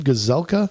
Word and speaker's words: Gazelka: Gazelka?